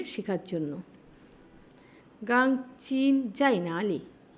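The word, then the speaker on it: 哪里: এই দুইটা যদি পরপর থাকে তাহলে প্রথমটা রাইজিং উচ্চারণ হবে।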